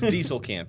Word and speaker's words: Diestelkamp: So, it's Dieselcamp.